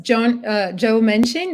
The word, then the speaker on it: Joe Manchin: And I think it's like, I remember it was Joe Manchin, that's how you say his name, that was